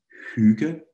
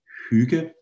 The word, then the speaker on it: hygge: with me at home it's almost a whistling sound you do around your lips here like and then it's very much in the front of your mouth you pronounce it this